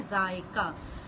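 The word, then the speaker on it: ज़ायका: अब जायका, देखें ऊपर आ गया हमज़ा, अब हमज़ा की वजह से ये वर्ड प्रोनाउंस ऐसे होगा जायका, ठीक है। हमज़ा की वजह से इस तरह प्रोनाउंस हो रहा है, अगर हमज़ा नहीं लगाएंगे तो ये कोई और वर्ड हो जाएगा, ठीक है।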